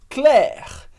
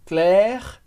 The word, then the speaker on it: Claire: super importantes do francês primeiro que as letras a i como Regra geral vão dar o som e como se fosse em português escrito com a letra e é por isso